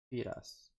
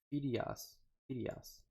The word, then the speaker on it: Fidias: Probably after Fiedaz. I think I pronounced it right, because apparently I was pronouncing it wrong. He sent me how to pronounce it correctly.